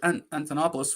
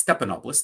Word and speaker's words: Stephanopoulos: Wolf Blitzer and George Antonopoulos from ABC and I probably got his name wrong it's Stephanopoulos thank you George Stephanopoulos both